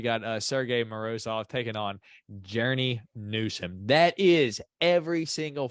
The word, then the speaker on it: Journey: Journey, dude, it looks like they spelled his name wrong, but his name is Journey. It's not Jeremy, it's Journey.